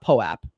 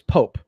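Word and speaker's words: POAP: your pope i just found out it's not poe app proof of attendance it's pope it's pronounced pope so i just found that out so it's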